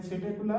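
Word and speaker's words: Psittacula: Then सेटेकुला, P silent here, P for parrot ऐसे ध्यान रखना.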